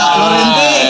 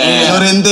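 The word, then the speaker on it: Llorente: David Via Lorente. Yurente.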